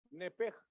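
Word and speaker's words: נפש: Pero es nepej, aunque se escribe nepesh al final.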